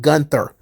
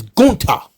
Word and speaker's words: Gunther: pronunciation of his name it is not gunther it is guta to which the crowd